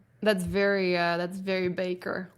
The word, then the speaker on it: Bakker: the names is it is it Baker or backer because I've heard it pronounced both ways I've always assume it was Baker um but I actually have no idea if if that's the correct pronunciation I I think it is Baker oh okay those are